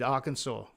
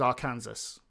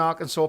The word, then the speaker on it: Arkansas: Arkansas. I used to think it was our Kansas.